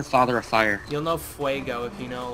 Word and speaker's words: fuego: I have the headstone quest one where you hear Johnny Depp saying Padres del Fuego, so I know it's pronounced Fuego.